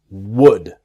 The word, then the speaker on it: would: Again, repeating myself, the L is silent. It's easy to make the mistake to say would, because maybe you see the L and you want to pronounce the L. It's silent. It's would. Would.